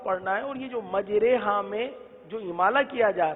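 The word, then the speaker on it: مَجْرٰىهَا: کیونکہ قراءت میں بروایت حفص پورے قرآن میں ایک جگہ پر امالہ آیا ہے اور امالہ اسی طرح کیا جاتا ہے. مجریہا نہیں پڑھتے بلکہ مجریہا پڑھتے ہیں.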